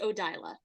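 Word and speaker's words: Odayla: having the mentor who is a hunter of odala and uh probably I'm going to go into uh that cult myself Kent uh from Drew and chat it's usually pronounced odyla okay no dialer okay okay thank you is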